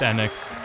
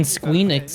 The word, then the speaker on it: Enix: Yeah, it's pronounced Enix Why are we saying Enix? This is so weird. because we're wrong. My life, Because saying Squeenix is great.